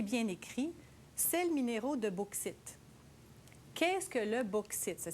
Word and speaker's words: bauxite: Eh bien, c'est bien écrit, sels minéraux de bauxite. Qu'est-ce que le bauxite? Ça s'écrit B-A-U-X-I-T-E.